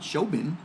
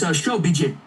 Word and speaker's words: Shobijin: so she was the showbin, because the J is silent, right? No, it's Shobijin.